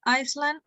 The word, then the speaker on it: island: Congratulations, you are the new first democratically elected government of Elysia, a small, beautiful tropical island in the Indian Ocean. Island. The Island. S is not pronounced.